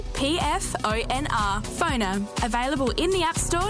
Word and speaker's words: Phoner: That's spelled PFONR. Phoner.